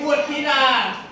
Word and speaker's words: บุตรธิดา: 500 บุธิดา บุตรธิดา ไม่ ออก เสียง รอ เรือ โอ้ มี คน ยก